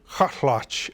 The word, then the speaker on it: Kaalaxch: I'm with Joe Hotch, and he's going to pronounce for me the name of the Chilkat leader. Kaalaxch. Kaalaxch.